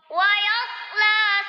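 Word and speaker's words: يَصْلَىٰ: Wa yasla sa'ira. Yang perlu diperhatikan di sini yang pertama wayaslah ya. La-nya panjang satu ayunan.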